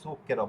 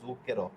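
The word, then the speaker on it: zucchero: কিন্তু শব্দটা হবে সুকের। ওকে? এই শব্দটা হচ্ছে মানে শুদ্ধ শব্দটা কিরকম বিকৃত হয়ে গেছে সমস্ত ইতালিতেই।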